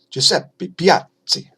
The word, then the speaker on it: Giuseppe Piazzi: 1700s early 1800s by Giuseppe Piazzi Giuseppe Piazzi to pronounce it correctly anyway the system is